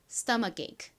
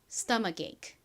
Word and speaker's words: stomach: stomach. 한 번 더 해 볼게요. stomach.